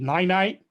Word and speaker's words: Ninite: What this does is that it's sort of like the program I think Dan uses called Ninite. Did I pronounce it right, Dan?